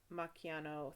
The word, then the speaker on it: Macchiano: with ties to former Macchiano... Wait, how is CH pronounced in... I don't remember. You pronounced it correctly. It's the two C's, which is the cha. CH is the ka. Macchiato. Yeah, okay. Macchiano theft ring.